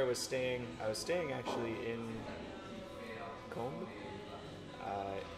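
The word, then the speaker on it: Cambes: But yeah, where I was staying actually in Combe. It's spelled C-A-M-B-E-S, Okay.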